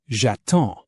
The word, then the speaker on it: j'attends: Take a look at je vends or j'attends. You don't pronounce the s and you don't pronounce the d.